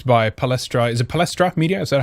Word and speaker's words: Palestra Media: Is it Palestra Media? Is that how you say it? Yeah, Palestra Media.